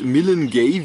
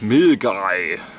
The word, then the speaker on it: Milngavie: Ich bin mir jetzt nicht genau ganz sicher, wird Millengay wie geschrieben und so habe ich es früher auch immer genannt. Und jetzt dank der netten Durchsage im Zug weiß ich jetzt, dass dieser Ort Milgay ausgesprochen wird.